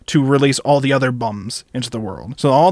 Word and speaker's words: Beom: another dimension they are called the bum it's it's spelled b e o m so initially I think it's pronounced beom apparently when I look it up they're telling me it's pronounced bum so I'm going to call them the bum